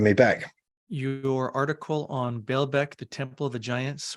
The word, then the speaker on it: Baalbek: thanks for having me back your article on bailbeck the Temple of the Giants or you might pronounce it balbec um can you give us just a snapshot